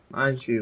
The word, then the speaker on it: Baizhu: Baizhu, that's how you say his name.